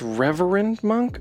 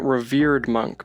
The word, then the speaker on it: Reverend Monk: creature then there's the it's Reverend monk I believe I kept calling it revered monk but I believe that's spelled differently so the four power